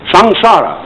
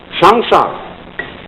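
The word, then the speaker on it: saṃsāra: Sanskrit s a m s a r a shanara it's pronounced shanara and although ssara is represented in uh popular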